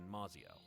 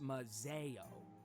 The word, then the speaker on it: Mazio: It's a letter from the Thorns, back in Mazio. It's actually pronounced Mazeo.